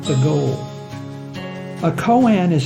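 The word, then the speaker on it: koan: cornerstones of Zen Buddhism k o a n is pronounced Cohen humans like to understand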